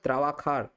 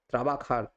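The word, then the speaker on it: trabajar: যে এই যেটা কিন্তু স্পেনে যদি উচ্চারিত হয় তখন কিন্তু ক্ষয়ের মত উচ্চারণ হয় তখন আপনারা বলবেন ত্রাবাখার ত্রাবাখার ত্রাবাখা দৌরেস স্তরে ত্রাবাখান্দ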